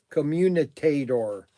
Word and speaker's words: commutator: Brian, for the record, the pronunciation is commutator. And it's spelled commutator. I am not commutator. I am not yelling at you. I am just trying to help you pronounce the word easily.